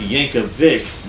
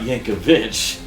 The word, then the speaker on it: Yankovic: and say, let's see, it's pronounced Yankovic, not Yankovich. Weird Al.